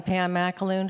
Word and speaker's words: Pam Macaloon: CHARLIE JUSTICE: PAM MACALOON. MACALOON. MACALOON. HOPEFULLY I GOT THAT CLOSE ON PRONUNCIATION. VERY GOOD. PRONOUNCED MY NAME WELL. I'M PAM MACALOON FROM PINELLAS COUNTY.